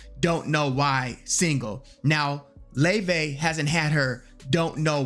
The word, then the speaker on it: Laufey: So a lot of people who see her name probably think her name is Laufey, Laufey, but it's Laufey.